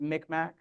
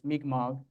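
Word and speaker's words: Mi'kmaq: many people pronounce it mcmack uh and the mmog nation has actually asked that you pronounce it the way the language pronounces it which is mmog um uh in addition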